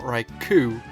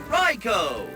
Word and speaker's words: Raikou: And as we all know, it's not Raikou, it's Raikou!